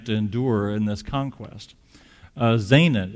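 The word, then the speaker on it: Zaanan: endure in this conquest Zana it sounds like kind of rhymes with the Hebrew word for come out but they're gonna stay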